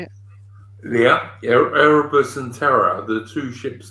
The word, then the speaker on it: Erebus: Yeah, Erebus and Terror, the two ships that went up to the Northwest Passage in the 1830s.